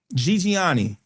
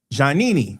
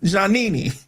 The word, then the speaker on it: Giannini: Bank of America Corporation was founded in 1923 by Amadeo Giuliani. Giannini, that's how you pronounce it. Amadeo Giannini, with the first office opening in San Francisco, California.